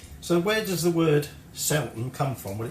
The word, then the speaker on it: Zelten: might come loose so where does the word selton come from when it's spelled with Zid it's Germanic um and it